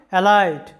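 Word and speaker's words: alight: Thought যেটার মানে হচ্ছে যে চিন্তা অ্যালাইট যেটার বাংলা অর্থটা হচ্ছে নামা বা অবতরণ করা তো উচ্চারণটা কী হবে অ্যালাইট জি এইচ এর কোনো উচ্চারণ হবে না।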